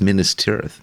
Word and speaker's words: Minas Tirith: It's just Minas Tirith. Yeah. I actually did look up the Elvish. And that is how Tolkien wanted it pronounced, and no one did.